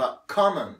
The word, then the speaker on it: common: احنا هنا انت بتتعلم امريكي، فهنا الاو بتتنطق ف common، مش كو مش كو، كا in common.